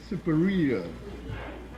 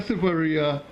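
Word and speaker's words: Siparia: I will know people when I say pronounce S-I-P-A-R-I-A, and they say superior. Once they hear superior, they're from we.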